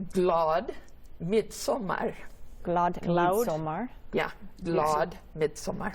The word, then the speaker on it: glad midsommar: Speaking of the culture, how do you say midsummer if you were like in Sweden? Yeah, you would say glad midsommar.